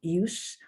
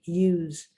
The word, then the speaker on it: use: has two different pronunciation the s is either pronounced like an s use and it's a noun or it's pronounced like a z use and it's a verb vegetable verb now you're